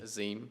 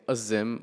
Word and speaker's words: Azim: But my name was really short and easy, just Azim.